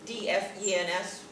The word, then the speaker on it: DFENS: Oh, by the way, the acronym for that is DFENS, pronounced DFENs.